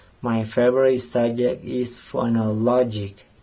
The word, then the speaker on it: phonology: My favorite subject is phonology. In this word, the syllable "no" is pronounced stronger than others.